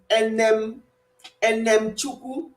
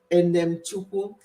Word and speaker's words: Enem Chukwu: Her surname is just as it's written, Enem Chukwu. Enem, then Chukwu.